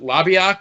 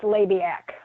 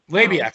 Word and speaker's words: Labiak: name is francis jonard is it lobbyiq i'm probably not pronouncing it right right how did he go from that to to to gordon sully uh and it's labiak labiak okay sorry yeah labiak